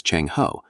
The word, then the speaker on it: Zheng He: During this period, under the command of Admiral Zheng He, a Muslim mariner whose name the Chinese pronounce as Cheng Ho, a fleet of 60